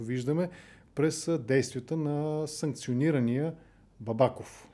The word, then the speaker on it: Бабаков: през действията на санкционирания бабаков или бабаков по-скоро мисля че е правилното ударение това е темата на